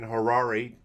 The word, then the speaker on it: Harary: we have today Harare and hotel rhymes with Ferrari thankfully texted me and